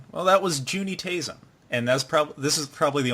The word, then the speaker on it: Juuni Taisen: Well, that was Juuni Taisen, and this is probably the only time I pronounced it right.